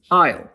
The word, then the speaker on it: isle: It did not have an S in Old English, but during the Middle English period, English borrowed another word meaning the same thing from French, île, which English now pronounces isle.